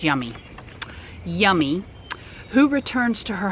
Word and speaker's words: Yumi: It's pronounced Yummy.